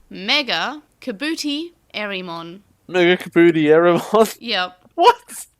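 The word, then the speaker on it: MegaKabuterimon: But never mind, that's not how they pronounce it. What did they say? Mega Kabootie Erimon.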